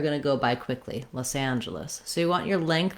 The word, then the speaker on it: Los Angeles: in this syllable uh in this name the ah vowel we also often write with a w so you can think about it like the word law with the s sound law loss los angeles and then our letter